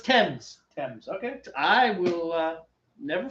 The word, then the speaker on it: Thames: It's Thames. Tim's? Thames. Like Tim's, but with an E.